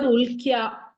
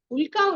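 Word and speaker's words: उल्का: Ma'am, the pronunciation, it is Ulka or Ulkya. Ya is Ulka. No, yeah. Ulka only.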